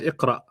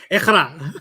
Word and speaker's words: Iqra: And I'm pretty sure they meant Iqra, Mm.